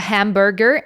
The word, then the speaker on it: hamburger: So I don't say the H, a hamburger, and of course the pronunciation it's completely different.